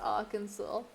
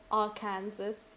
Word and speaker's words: Arkansas: Arkansas must be pronounced Arkansas. Imagine I just said our Kansas right now.